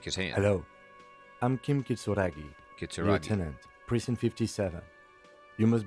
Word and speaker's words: Kitsuragi: or kitsuragi i'll have to see how they pronounce that yeah it's kitsuragi um and looks like he has a pokemon